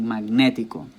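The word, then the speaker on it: magnético: hear a word like magnetico, magnetic, magnetico, you can hear that the stress is where? Magnetico. It's on ne.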